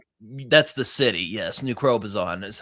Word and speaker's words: New Crobuzon: New Crobuzon is how it's pronounced.